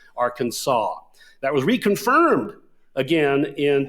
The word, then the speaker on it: Arkansas: It was settled basically in 1881 to say it be spelled A RK NSA, but it was be pronounced Arkansas.